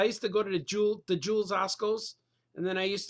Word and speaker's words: Jewel: the Jewels, not the Jewels. That's how you say it in Chicago, the Jewels, but it's just called Jewel. There's no the or the s, Jewel, but Chicago calls it the Jewels.